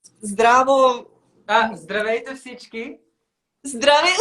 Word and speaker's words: Здравейте: Здравейте всички.